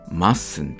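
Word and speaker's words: mustn't: 発動してはいけませんよまっすんで何回か 50 分で発音して確かめてみてください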